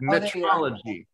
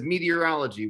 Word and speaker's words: metrology: it in the chat metrology i used to have it in my bio but people kept mispronouncing it as meteorology which i don't know